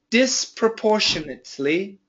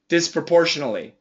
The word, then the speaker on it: disproportionately: Disproportionately, disproportionately, disproportionately, disproportionately, disproportionately, disproportionately, disproportionally, disproportionally. Don't do that. Don't say portionally. Say portionately, portionately, portionately.